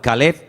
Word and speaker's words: Caleb: Para diferenciar el nombre del perro se pronuncia diferente, pero se escribe igual. Caleb es para el hombre, para un hombre propio.